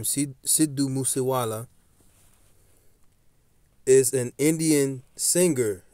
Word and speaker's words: Sidhu: So, with that being said, let's look up some of this stuff on this guy, Sidhu, as they pronounce it, Sidhu, right?